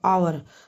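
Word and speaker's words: hour: देखो आवर आवर में H silent है।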